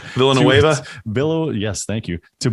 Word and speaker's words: Villanueva: you know obviously they just lost um the villa villa villapo neva i can't say his name villanueva billow yes thank you to baltimore uh not